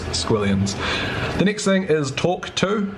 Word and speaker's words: Tawk.to: The next thing is Tawk.to, which is spelled kind of funny, TAWK.to.